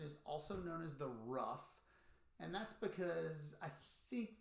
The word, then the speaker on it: ruff: that sounded like a rough rough rough rough rough kind of roll the r and rough a little bit you get sort of